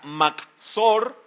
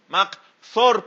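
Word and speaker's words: מחסור: Aquí la palabra hebrea makzor, M-A-K-J-S-O-R, makzor, perdón, M-A-K-J-S-O-R, así se escribe.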